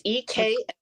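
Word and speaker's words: Eklutna: So if you guys want to delve into some old cases, you got One-Eyed Jack, and it was, how do you say the A Klutna. It's EKUTNA.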